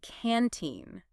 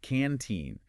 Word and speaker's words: canteen: They said canteen. The stress is heavy on the second syllable. Yes, canteen.